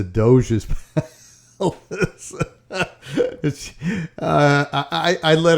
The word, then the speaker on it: Doge: or is my mother-in-law pronounced the dog's palace i'm like no no ma it's the doge's uh i i i